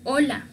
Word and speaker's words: hola: Pero en un compuesto, en una palabra, esta letra en el alfabeto no se lee. Se dice que es una H muda, no tiene sonido. Por ejemplo, hola. Solo estamos diciendo hola. Pero la H es muda, no hay ningún sonido.